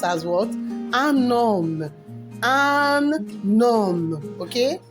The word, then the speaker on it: homme: Un homme. Un homme. Okay? What happened to the H? The H is what? Silent. So it's pronounced as what? Un homme.